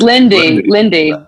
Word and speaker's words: Linde: Is it Linde or Linde or? It's Linde. Yeah.